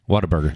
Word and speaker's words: Whataburger: kind of what harder Whataburger I say what a burger it's really yeah